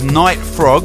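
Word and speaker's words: Knight Frog: And someone with a brilliant name, which is Night Frog, with a silent K.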